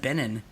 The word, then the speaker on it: Benon: It's spelled Ben-on, but people often say Benon. My mother will say Ben, and when she says the other one, she'll say Benon, but I say Ben-on.